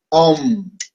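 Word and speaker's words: ॐ: La pronunciación es A, A, U, AUM. Por eso pronunciamos el OM de esa manera. OM.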